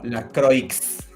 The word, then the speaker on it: LaCroix: Se escribe como LaCroix. Ok, eso es francés. Y se dice La Croix.